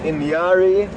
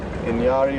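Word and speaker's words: inyari: going to give you the easiest spelling for pronunciation purposes so in gloo is elephant Inari i n y a r i Inari or also known as inati is Buffalo L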